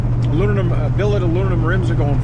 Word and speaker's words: aluminum: a piece of solid aluminum, right? Aluminum, that stuff. You know, nobody knows how to pronounce it. Aluminium, aluminum.